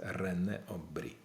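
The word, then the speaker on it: René Aubry: 10 чи 11-й раз Рене обрі обрій так читається знаєте як студенти люблять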